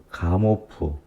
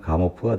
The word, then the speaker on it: 가모프: 빅뱅 이론을 창시한 가모프. 그렇죠. 가모프. 우리가 이제 영어식 발음은 가모인데, 그 러시아 사람이기 때문에 러시아 발음으로 하면 가모프가 되겠죠.